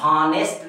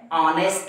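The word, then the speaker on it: honest: लगाना चाहिए, लेकिन नहीं, यह हॉनेस्ट नहीं है, ऑनेस्ट है आ, यानी पहले ये जो है आ जो है उच्चारण इसका आ रहा है, इसलिए हम यहाँ क्या लिखेंगे, आएं।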